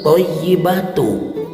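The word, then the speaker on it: الطيبات: ini attahiyatul mubarokatus shawatut thayibatu tidak ada tasdid dari kalimat at thayibatu ke kalimat lillah tidak ada idgam di sana Allah subhanahu wa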